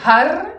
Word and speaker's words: har: Et vous allez prononcer har. Vous rentrez le H et vous roulez le R.